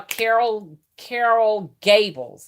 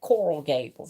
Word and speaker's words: Coral Gables: You can go and live in Clark and what you call Carol Gables. Is that right? Am I saying it right? Coral Gables.